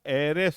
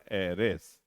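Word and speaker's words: heiress: HEIRES, इसका हेरेस नहीं होता है, एरेस होता है उच्चारण, एरेस। तो ए से शुरू हो गया जो कि वॉवेल साउंड है।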